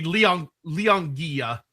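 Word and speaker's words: L'Anguille: word in chat, and that is not pronounced at all like I thought it would be. Anguilla. So it'd be Leonguilla, apparently. That is, man, there's a lot more syllables in there than I was expecting. French. All right.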